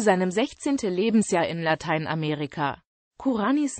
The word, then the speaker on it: Kurányi: 16 Lebensjahr in Lateinamerika kuranis Name wird in den deutschen Medien nur in den seltensten Fällen wie im ungarischen üblich als Kura ni mit Betonung auf der ersten Silbe ausgesprochen Karriere über die Vereine